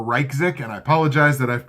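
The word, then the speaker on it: Ryczek: our YC z EK it's either or Reich sick and I apologize that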